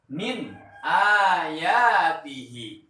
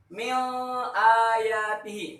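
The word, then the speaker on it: مِنْ آيَاتِهِ: Contoh, min ayatihi. Nah, bacaan yang benar seperti itu. Min ayatihi. Jangan dibaca seperti ini. Mil ayatihi. Salah.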